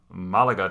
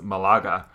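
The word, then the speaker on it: Málaga: Listen, you pronounced the town Malaga today as Malaga. Well, excuse me for not seeing the accent over the first A.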